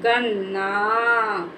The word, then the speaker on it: गन्ना: बोलेंगे न ना बोलेंगे इसका उच्चारण ना करेंगे और इसका जो शब्द बनेगा जाके जैसे गन्ना क्या बनेगा जा गन्ना अब इस गन्ना को जल्दी से बोल देना है गन्ना गन्ना हो गया